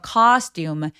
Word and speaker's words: costume: 자, costum 할 때 아 소리 엄청 길게 발음해 주시고요.